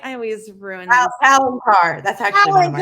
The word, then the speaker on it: Palancar: Another dive site that's famous is the plank car. Am I saying that right? I always ruin these. Palancar. That's actually one of my Palancar.